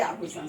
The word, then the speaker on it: आभूषण: ये आभूषण जब हम बोलते हैं तो इसमें भू बोलने में जोर पड़ता है। आभूषण, आभूषण की दुकान, आभूषण, आभूषण में जोर पड़ता है, इसलिए इसमें दीर्घ की मात्रा हुई और ये हर्ष उ की मात्रा है।